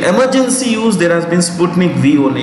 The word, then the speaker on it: Sputnik V: It is not Sputnik 5. It is Sputnik V. V is what we say. V is vaccine. V is vaccine. It is not nothing to do with what we say. The Roman numeral. It is V for letter basically, okay?